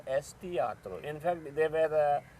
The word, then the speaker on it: Tiatr: Let us spell it the way we pronounce it. And as a result, T-I-A-T-R came into existence.